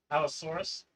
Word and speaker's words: Allosaurus: Alorus? Down to the bottom. Okay. What is an Alorus? Allosaurus. It's a dinosaur. Saurus. It says Allosaurus.